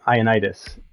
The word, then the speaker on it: Ioannidis: And that player was Matthew Ioannidis, and which I think is how you say his name.